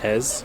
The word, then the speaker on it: Eze: So we just came out of Eze. I think it's Ez. Ez?